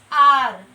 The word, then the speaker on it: hour: Consonant है, start consonant से हो रहा है, बट जब हम उसको प्रोनाउंस कर रहे हैं तो हमारे मुंह से क्या स्वर निकल रहा है? आर। तो आ का साउंड आ रहा है, आर। एच क्या हो जा रहा है?